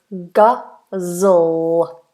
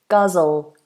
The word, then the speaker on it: guzzle: Guzzle. Dark L. Guzzle.